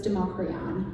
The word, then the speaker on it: Democrion: So it's inspired by Scots Gaelic. My mom is Scottish. Yes. Okay. So it's Democrion. The DH is Democrion.